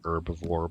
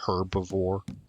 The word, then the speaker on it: herbivore: Over here in America, we pronounce that word with a silent H. So, we say herbivore, but as I understand it, the Brits say herbivore.